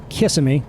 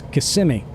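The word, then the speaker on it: Kissimmee: syllable so for instance it's not kissm which is how I said it before I knew any better it's KMI and I'll tell you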